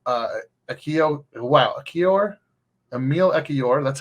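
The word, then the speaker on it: Ekiyor: um a meal uh Akio wow Akio Emil ekior that's how you say his name uh was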